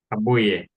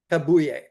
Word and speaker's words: Kabuye: So, and Stephen, the correct pronunciation of your last name is Kabuye. Kabuye.